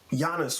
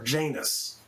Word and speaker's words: Janus: And this character, Janus, was left. Or Janus, depending on how you want to pronounce it.